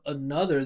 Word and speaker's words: another: You know, a lot of students think that this word another, they think that it's with the ah vowel that we were just talking about before, with like gonna wanna, or I don't remember the other example, but people say another. That's one I hear that all the time, because there's an O, you guys think it should be big, you guys say another.